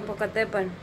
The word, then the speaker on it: Popocatépetl: Popocatépetl. Okay, what she said. Okay, I'm not good at my pronunciation, but there might be a UFO connection to it.